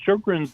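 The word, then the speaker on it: Sjögren: So Shogrin's disease was initially described by a doctor in Sweden, Dr. Shogrin and that's why it's spelled Sjs.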